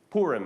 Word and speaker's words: Purim: Purim is sometimes how it is pronounced.